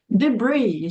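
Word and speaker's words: debris: sentido esse aqui aham tá debr já o s não é pronunciado tá debr geralmente é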